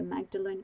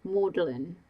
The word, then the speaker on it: Magdalene: A graduate of the Magdalene College. It's pronounced Malin Georgina corrected.